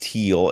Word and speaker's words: Thiel: Fred did let us know that Thiel is pronounced teal, and believe it or not, I did know that. I just forgot. It's a German word. That's why you have to. It's a silent H.